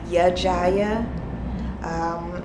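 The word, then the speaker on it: Ya-Jiyah: If anybody is wondering, her name is Jaya, and it's actually Yajaya, which is spelled Y-A hyphenated J-I-Y-A-H.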